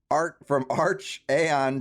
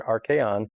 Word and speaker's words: archaeon: And it's almost like archon, but it's a archaeon.